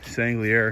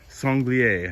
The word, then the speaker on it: sanglier: totally endless these uh sangli air have destroyed this yard songlier i should say it correctly good news over time